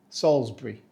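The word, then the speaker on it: Salisbury: also famous pronounced correctly we say Salsbury we do not say salisb or sabur the L and Zed sneak in there somehow uh and the bur becomes Bri just remember soulsbury it's almost poetic Salsbury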